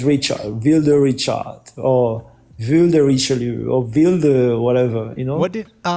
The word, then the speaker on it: Richelieu: How do you pronounce it correctly, though? Richelieu.